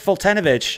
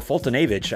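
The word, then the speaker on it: Foltynewicz: Mike Fultonovich is our second auto, or Fultonavich, I guess, is how you're supposed to pronounce it.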